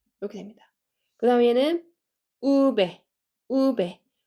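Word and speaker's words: uve: 우 이렇게 됩니다 그다음에는 우배 우배 우에 강세 주시고 얘는 어 영어에서는 이렇게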